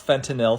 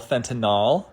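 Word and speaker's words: fentanyl: Please don't pronounce fentinil fentinol. I watch the news and I see experts all the time call it fentinol, but it's fentinil.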